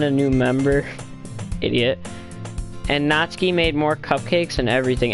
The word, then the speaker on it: Natsuki: new member idiot and natsuki made more cupcakes and everything and yes I know it says natsuki but it's actually Japanese and you're supposed to pronounce it ski it says Suki anyway